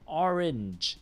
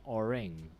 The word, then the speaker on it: orange: oring so be careful transcribe the pronunciation not the letters okay so orange so not yeah not oring okay please save this